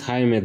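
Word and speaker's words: Jaime: __ ] would she get Jamie out of haime so either he does have an appointment and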